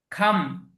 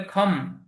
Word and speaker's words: come: খাম, খাম, আসা। অনেকে এটা যেহেতু সি এর পরে ও আছে, অনেকে বলে খম। না, এটা খম না, এটা কি হবে? খাম, খাম, COME, খাম।